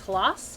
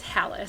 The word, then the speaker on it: Halaas: We've gotten really lazy on how to pronounce it, but the proper pronunciation is Halas, but we got lazy, and it's Hallis.